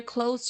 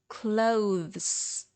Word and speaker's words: clothes: must be there because if you don't it will sound almost the same as close close but it's not